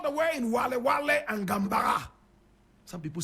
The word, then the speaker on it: Gambaga: All the way in Wale and Gambaga. Some people say Gambaga. Correct pronunciation, Gambaga.